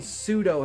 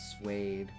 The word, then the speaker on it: suede: Is that pseudo? Swede? I don't know how to pronounce that. Pseudo was the first thing. But I'm like, doesn't that have a P in front of it? It's like pseudo. It's suede. Suede.